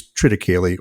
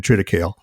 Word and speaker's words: triticale: so for me uh I use trtic or as some people pronounce it depending on what part of the country you're in triticale and what that is